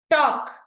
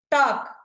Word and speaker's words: talk: Talk. Talk. ఇక్కడ మనం L silent చేసాం, అవునా?